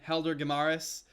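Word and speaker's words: Helder Guimarães: butcher that name again Helder de maras for the English pronunciation since I mean since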